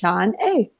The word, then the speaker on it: Shaunae: And yeah, it looks weird, but it really is easy. It's just Shaunae.